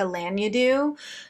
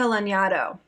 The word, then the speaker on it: Lanyadoo: I think we're doing Jessica Lanyadoo. Shoot, I always say that wrong. Jessica Lanyadoo. Boom. That's the right way to say it.